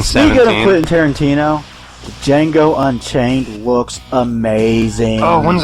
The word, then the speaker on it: Django: so excited for the Django Unchained. The Django Unchained. Christmas nights. Shut up, Sebastian. Fuck you, What's your name? motherfucker. Django. The D is silent.